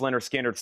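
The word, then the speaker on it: Lynyrd Skynyrd: Leonard Skinner, pronounced Leonard Skinner's 36.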